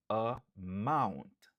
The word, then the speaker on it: amount: Li genyen 2 syllabes. Stress syllable lan li sou deuxième syllabe lan. Mount. Amount.